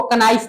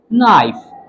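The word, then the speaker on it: knife: बहुत सारे लोग इसको कनाइफ पढ़ते हैं। नहीं भाई ये कनाइफ नहीं है। के इज साइलेंट नाइफ।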